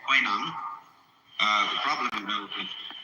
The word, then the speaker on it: Huineng: But this is simply the Cantonese way of pronouncing the same characters, and this is the Mandarin way. In Mandarin, Huineng becomes Wei Lang.